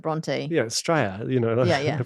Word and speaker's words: Bronte: It's actually Bronte though, isn't it? It's Bronte. She pronounces it Bronte.